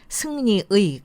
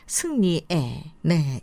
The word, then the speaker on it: 승리의: 이렇게 의자가 길어집니다 국회의원 소유일 때는 어떻게 발음될 나의 너의 그의 우의가 아니고 에로 발음이 되죠 나의 너의 그의 우리의 또 조사로 쓸 때도 역시 에로 발음이 됩니다 사랑의 한국의 승리의 아니라 사랑의 한국의 승리에네 이렇게 발음하도록 하세요 여섯째 다르다와 틀리다의